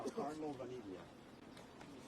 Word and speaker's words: Vaniglia: And you say your first last name, Carlo Vaniglia. can you spell it too?